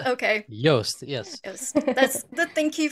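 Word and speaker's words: Joost: yeah yeah we we've heard his name being pronounced like 10 different different ways but yast yast okay yast yes that's the thank you for for corrected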